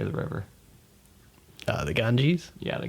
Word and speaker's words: Ganges: The Ganges? Yeah, the Ganges.